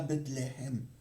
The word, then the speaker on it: Bethléem: ville de David appelé Bethléhem Bethléem ou Bethléhem hein en en hébreu on prononce comme cela Bethléhem hein parce qu'il était